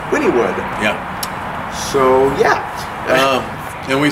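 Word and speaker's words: Wynnewood: um so then we went to uh uh wynwood wynwood wynwood or sorry sorry winnie wood what are you supposed to pronounce winningwood oklahoma winningwood i welcome this for the phonetic pronunciation it's winnie wood yeah so yeah and we searched the skies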